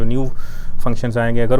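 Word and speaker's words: ν: इसको ये Greek letter है, इसको हम ऐसे लिखते हैं, इसको न्यू ऐसे इसको रीड आउट करते हैं, ये उसकी इंग्लिश प्रोनाउंसिएशन है।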